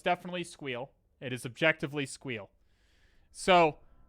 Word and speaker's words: SQL: called SQL or squeal it is objectively and incontrovertibly pronounced squeal if you hear someone else pronounce it a different way those people are wrong okay you heard it